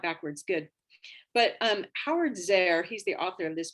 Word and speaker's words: Zehr: So how do you pronounce or spell his last name? Howard? Zehr, Z-E-H-R.